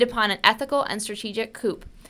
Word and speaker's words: coup: an ethical and strategic coupe the rallying cry of pride pronounced coo it's french i